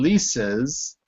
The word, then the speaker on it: Lisa's: Remember, the S in Lisa's, first of all, you have to say it like a Z, Lisa's.